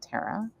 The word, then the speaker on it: Tara: names right my name tara or tara others would say i pronounce it tara means star or tower